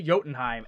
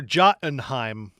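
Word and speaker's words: Jotunheim: jordan heim yes it goes up to to yotenheim and or or jottenheim jottenheim yeah okay j-o-t-u-n-h-e-i-m jottenheim jo unheim a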